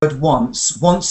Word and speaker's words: once: When we say that word once upon a time, it's got a worse sound at the beginning, like one.